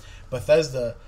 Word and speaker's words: Bethesda: This is the first time that Bethesda, yes, I said it right, Bethesda has done an E3 conference, unto itself.